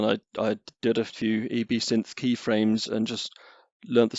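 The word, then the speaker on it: EbSynth: heard gavin pronounce it i've always called it absynth and then i i just recently watched a flurry of youtube videos and i seem to be the only person in the world who pronounces it absinthe so okay well i'm going to try and bend my brain to say eb synth so yeah gav in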